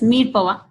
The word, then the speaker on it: mirepoix: It is pronounced as mirepoix, which is a combination of onion, carrots, and celery.